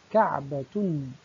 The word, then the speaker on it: كعبة: كلمة كعبة تنتهي بتاء مربوطة، عندما وقفنا عليها نطقناها بلفظ الهاء، ولكننا إذا أردنا أن ننطق الحركة ونصلها بما بعدها فإننا نقول كعبة، كعبة، ننطقها بلفظ التاء.